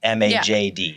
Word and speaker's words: Majd: people overthink it because there's no Majd. vowel in between. Do I just ignore the J? Or do I ignore the D? You ignore neither.